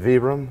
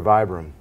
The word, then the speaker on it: Vibram: question that I receive is it veeram or Vibram and the answer is yes so we're an Italian company and obviously the the in Italian it's veeram but in in the States well we'll call it Vibrams so feel free to call us what you'd like no no challenge there